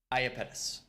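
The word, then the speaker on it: Iapetus: Peters is that correct Aya penis Aya penis that's the sound I have to sound like I'm Roman ayapetis that's what's that's what it is that's the correct pronunciation and Leslie philby so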